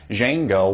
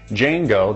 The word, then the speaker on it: Django: about this film is jeno what's that what kind of name is that well what you need to know about it is the D is silent you'll know what I